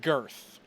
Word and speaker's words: Girth: It was and the other Plymouth one was- and Girth, which is pronounced Gith. Ah. It's pronounced Gith, the Wastelands of Gith. Oh, it And is he Gith? said it Oh, okay. wasn't It's spelled Girth, but me and Max called it Gith for the longest time. That I said, fuck it, it's just Gith, because I'm gonna mess that up so The R many is times. silent. The R is silent.